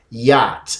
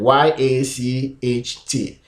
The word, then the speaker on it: yacht: last two good so our next one is yacht let's go to spelling y-a-c-h-t and we pronounce here as yeah o yacht and our